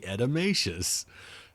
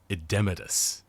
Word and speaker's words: edematous: She just said it's completely edemacious. The word is edematous. Edematous, as in pertaining to edemas.